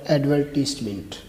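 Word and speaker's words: advertisement: یہ غلط ہے، جو درست ہے وہ ہے ایڈورٹیسمنٹ، ایڈورٹیسمنٹ۔ اور دوسرا ہے جی وہی یعنی کہ ہم، جس کے معنی بنتے ہیں ہم، اس کا صحیح تلفظ کیا ہے جی؟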